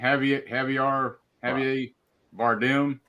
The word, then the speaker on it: Javier Bardem: Javier Bardem.